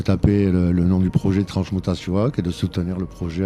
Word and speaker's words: Transmutazioak: Basque, et de taper le nom du projet Transmutasiuak et de soutenir le projet à partir de 20 €. Et oui, parlons-en du titre. Le titre Transmutasiuak.